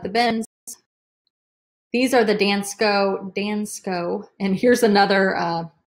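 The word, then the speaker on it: Dansko: for 50 all right I think it's pronounced dance Co da in sko he finds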